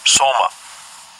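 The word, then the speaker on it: σῶμα: Let's get the Greek pronunciation. Strong's G 4983, Soma.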